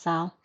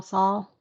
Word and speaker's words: Saul: i think it's pronounced sal saul better call saul and saul might be right because i think it's compared to paul a lot although i think